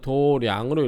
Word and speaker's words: 도량: 행하고 난 후에 도장 또는 도량이라고 읽죠. 여기서는 불교에서는 도량으로 읽어요.